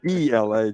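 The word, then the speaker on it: Aila: is it giblin i had to ask coach because it's spelled a i-l-a but as you see i put it in the e-l-a just remember ela so i don't exactly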